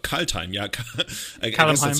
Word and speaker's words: Kaldheim: Kaldheim, yeah. I guess that's how I pronounce it as a German. In English, they would probably go like, oh, Kaldheim.